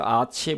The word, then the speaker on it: a: আমরা যখন কোথাও কিছু আছে বলি তখনই ব্যবহার করি একবচন হলে বলি ারস একের বেশি হলে বলি ারস আছে কি আছে আ একটা উচ্চারণ আ হবে কখনো এ বলবেন না এখানে একটি অর্থে যে